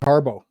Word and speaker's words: Harbaugh: Henry versus OC Greg Harbo spelled Harbaugh but pronounced Harbo um I just this